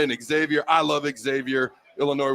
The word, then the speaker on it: Illinois: Exavier I love Xavier Illinois with the S is silent I do not have